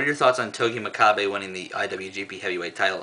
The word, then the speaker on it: Makabe: I know his last name is pronounced Makabe, not Makabe.